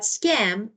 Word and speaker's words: scam: But scam, it's actually goes up a little bit goes up. Scam. Yeah, it's not skim.